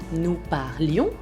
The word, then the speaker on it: parlions: Cuidado que se tiene que oír la I, nous parlions.